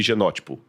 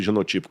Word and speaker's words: genótipo: Fenótipo e genótipo. Ou fenotipo e genotipo, como alguns pronunciam.